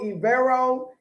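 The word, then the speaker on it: Evero: didn't have time to look it up agiro ivero e j i r o e v e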